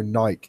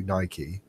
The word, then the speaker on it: Nike: on the last one did you know Naik is actually Nike it's actually Nike oh did you know